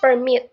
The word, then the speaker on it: permit: the in this word the stress is on the second syllable M so it's permit not permit abide again the stress